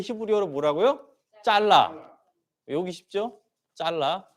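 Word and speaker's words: צָלַח: 크게 감동 된다는 말은 히브리어로 짤라 라는 말입니다 우리 가래떡 할 때 칼로 가지 뭘 잘라 할 때도 있잖아요 자르다 말이 있는데 발음이 비슷해요 이게 크게 영에 감동된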